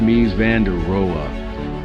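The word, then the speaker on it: Mies van der Rohe: Lewig Mai Vanderero Mai Vanderero pronounced mi vanderea promoted simplicity and minimalism.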